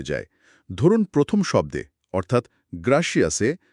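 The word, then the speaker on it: gracias: ধরুন প্রথম শব্দে অর্থাৎ গ্রাসিয়াসে জি এর পরে একটা কনসোনেন্ট আর আছে।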